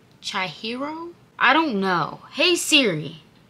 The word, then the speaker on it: Chihiro: Okay, y'all, so today we are reacting to Billie Eilish, I think it's Chihiro? I don't know. Hey Siri, what is Billie Eilish's new song, Chihiro? Chihiro.